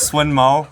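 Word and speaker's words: Sun Mou: cards ancient warrior sunmo so I've only seen one other youtuber not pronounce these names correct so it's swin mo all right and what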